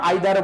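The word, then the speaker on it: either: ইদার ডট ডট অর তারপরে যদি দেখি ইদারও বলতে পারো আইদারও বলতে পারো দুইটা প্রোনাউন্সিয়েশন করতে পারো এরপরে বলতে পারো নাইদার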